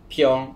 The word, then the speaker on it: Phiong: name is fion you can pronounce it as pyeong or fyong it doesn't matter at all so i'm from kuching